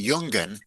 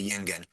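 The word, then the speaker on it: יונגען: Yeah, it seems to me that the word is actually Jungen, young folk, but in the southern dialect, the O is pronounced I. And so, and to rhyme with Zingen, of course, you're going to have to say Yingen.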